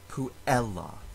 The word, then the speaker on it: puella: followed by two consonants, two L's. The two consonants make the syllable take a little bit longer to pronounce, so we can count the syllable as long, even though it has a short vowel. That is why in this word, the second to last syllable still receives the stress, puella.